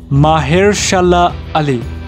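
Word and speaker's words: Mahershala Ali: का रोल निभाने वाले हैं एकेडमी अवार्ड विनर महेरशाला अली। अच्छा, ये नाम को सही से प्रोनाउंस करने में मैंने 20 बार से ज़्यादा रिकॉर्ड किया और अब मैं आपको भी सिखा देता हूँ, महेरशाला अली।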